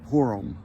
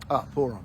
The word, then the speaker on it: Purim: Ashkenazi call it Purim. Purim. P-O-O-R-U-M. A Sephardi, such as myself, would call it Purim, P-U-R-I-M, which is more the correct pronunciation, but we won't argue with that.